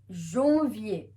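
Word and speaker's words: janvier: first month that is January is Jovi remember a n will produce the o sound so we have zombie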